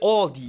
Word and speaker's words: Aldi: In English, people usually pronounce this Aldi. I think I've also heard Aldi before, but I think most people say Aldi or they also sometimes add an S that isn't there in the end and say Aldi's.